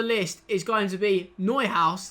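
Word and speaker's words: Neuhaus: is going to be neu house that i have now discovered is how i pronounce his name i've got it wrong the whole video he is very very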